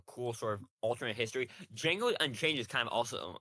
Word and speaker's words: Django: It's It's Django. Django. The D is silent.